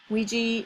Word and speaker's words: Ouija: Ouija is pronounced Ouija.